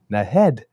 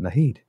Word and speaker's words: Naheed: And that evening, she was in Edmonton introducing Nahed Nenshi. I've now found out, not Nahid. So that's the proper pronunciation of his name.